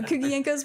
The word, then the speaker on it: Kuguenko: mainly use the name kugienko illustration for my art uh that's gonna need to spell that yes so cookie inko's my last name uh it's Ukrainian and I will spell